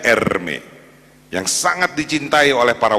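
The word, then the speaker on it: Hermès: ada merek Hai namanya Hermes bacanya Ermi yang sangat dicintai oleh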